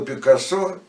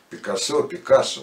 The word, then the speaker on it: Пикассо: А Пабло Пикассо, Пикассо, на самом деле по-разному произносят, но... Я заглядывал в словарь, можно и так, Пикассо, буду говорить так.